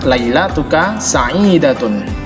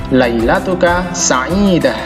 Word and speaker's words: ليلتك سعيدة: Kemudian kalimat sapaan yang nomor 4 adalah Kalimat sapaan yang nomor 4 atau yang terakhir adalah lailatuka sa'idatun, atau kita bisa membacanya dengan lailatuka sa'idah. Kita baca waqaf belakangnya.